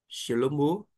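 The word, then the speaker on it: שלמה: é o mo e quando temos esta letrinha no final da palavra a gente não pronuncia que é equivalente ao nosso é o re e Mas a gente não pronuncia de forma que vai ficar xomo shelomo significa Salomão vamos para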